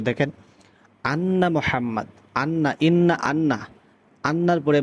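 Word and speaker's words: محمد: মোহাম, মোহাম, হাটা উচ্চারণ করতে হবে। আশহাদু আন্না মোহাম, আন্না একালিফ গুণনা, মোহাম মিমের উপর তাসদীদ মিম একালিফ গুণনা হবে। মুহাম্মাদ, মুহাম্মাদার।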